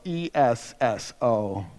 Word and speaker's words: Esso: So, they decided to spell it out. S O E S S O. And so, SO the letter SO became Esso.